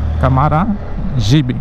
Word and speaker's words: Camaragibe: Na ortografia, o nome seria escrito com J. Câmara Gibe, com J. Mas como é indígena, se escreve com G. É uma exceção à regra da gramática.